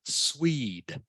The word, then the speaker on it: Swede: how to say this what okay it is pronounced Swede Swede sweet sweet okay sweet so a Swede